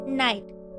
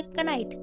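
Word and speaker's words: knight: यू आता है तो वहां ज्यादातर के का उच्चारण नहीं किया जाता फॉर एग्जांपल जैसे नाइट इसके स्पेलिंग देख सकते हो के एन आई जी एच टी तो इसको हम क्या बोलेंगे कनाइट लेकिन यहां पर क्या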